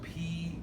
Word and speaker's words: psoas: it here is the psoas major and you can see it's spelled p-s-o-a-s the p is silent we just say psoas so watch this what